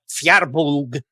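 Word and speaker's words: Firbolg: the effect of like, well, technically it's something like FEER-bolg or something like that, and that like to pronounce it like no kidding correctly, it would sound really weird to kind of speakers of standard English, and that even the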